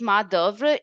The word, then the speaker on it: main d'oeuvre: So we pronounce this as main d'oeuvre, and this is almost obsolete now.